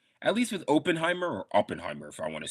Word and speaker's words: Oppenheimer: At least with Oppenheimer, or Oppenheimer, if I want to say it correctly.